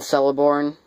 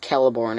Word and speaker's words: Celeborn: Lothlorien, where Galadriel and Celeborn, or not, it's pronounced Celeborn, I think. I prefer saying it the other way, but I'm pretty sure Celeborn is how you pronounce it.